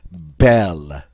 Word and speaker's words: belle: And the French word that represents this would be belle. Belle. All right, you hear that short E sound?